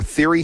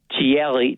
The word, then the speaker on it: Thierry: So, is this guy Thierry Henry or Theory Henry? What How do you pronounce this guy's name? Thierry, Thierry Henry. Henry? But it's it's spelled Henry. Yes, but in the French language, they pronounce words differently.